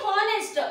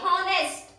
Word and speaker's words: honest: But honest, oh, we are pronouncing as the honest. We are stressing the o letter here. So h ಏನಕ್ಕೆ ಇಲ್ಲಿ honest ಅಲ್ಲಿ h silent ಆಗುತ್ತೆ. honest.